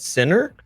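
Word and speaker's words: Siner: Um and then on the opposing team, we have generations with uh I don't know how you pronounce that, center. Yeah, s like s i n e r.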